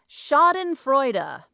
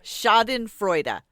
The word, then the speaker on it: schadenfreude: The vocabulary word of the week is schadenfreude. Huh? Okay, here's how you pronounce it. Never in my life. Schadenfreude.